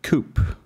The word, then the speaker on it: Coup: This one is called Virotic Coup. Sounds like poop, but it's coup pronounced. I googled that.